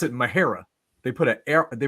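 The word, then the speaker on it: Mexia: right it's spelled m-e-x-i-a right so you could pronounce it Mahaya right just like you would do Tejas you know but then the the locals there they pronounce it mahera they put a air they put an r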